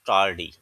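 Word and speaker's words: tardy: अच्छा अब हम पढ़ते हैं दानिश वास कास्टेंटली टडी टडी दानिश वास कास्टेंटली टडी इसमें आर जो है वो थोड़ा सा साइलेंट है दानिश मुस्तकलन टडी मींस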